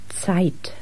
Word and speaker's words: Zeit: And just to remind you, the German Z is pronounced as if it were TS. Zusammen. Zeit.